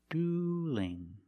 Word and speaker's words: dueling: ing they are dueling now what changed now the L in dueling is between vowels so we have to change that L to a light l so it's not dueling it's dueling dueling they're dueling somebody's